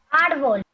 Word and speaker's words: árbol: ¿Cuál es la sílaba correcta? Ar, muy bien. Ar, la A con la R. Ar, en la sílaba ar.